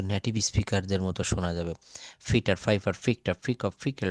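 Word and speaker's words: Peter: এটা কিন্তু আসলে পিটার হবে না, এটা উচ্চারণটা হবে পি এর জায়গায় ফ বলতে হবে। Fitter, fitter. পি রয়েছে আবার টি রয়েছে, পি আছে, টি আছে, পি আছে, টি কে কি বলবো? ঠ। Fitter, fitter. ফাইফার, ফিক্ট, ফিক অফ ফিকেলড পেপারস।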